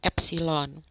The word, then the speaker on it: epsilon: Itu bacanya adalah epsilon.